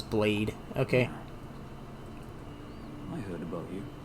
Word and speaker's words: Blaidd: And that's not how they're pronouncing it, but look, Blaidd. His name is Blade. Okay. I heard about you. Name's Blythe.